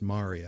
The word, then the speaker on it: maria: All those blotches on the moon's face are maria, which I've also heard it pronounced maria. I prefer myself maria.